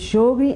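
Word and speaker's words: Sjögren: é uma doença que é a síndrome de jogl é uma doença muito prevalente como é que se escreve jogl se escreve s j o g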